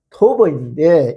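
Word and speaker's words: טוב: 먼저 선하시다라고 번역된 히브리어 발음은 토버인데 이 뜻은 무엇이냐 하면은 좋다.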